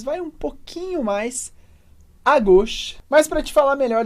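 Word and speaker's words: gauche: gox à esquerda aqui repara na pronúncia da palavra gos que a gente vai falar u com o som de o Então a gente vai falar go depois a drat que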